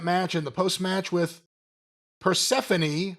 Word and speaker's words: Persephone: 6-minute overrun, continuation of that match, and the post-match with Persephone, who we previously pronounced as Persephone, and everyone got mad.